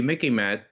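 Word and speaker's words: MICIMATT: but you know the mickey matt the military industrial congressional intelligence media academia think tank complex remember it mickey matt uh remember it rhymes with mickey mouse okay this is the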